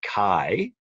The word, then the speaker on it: chi: Greek pronunciation of Christ and the letter that makes the cut sound is written as a big X and that X is named Kai and then the sound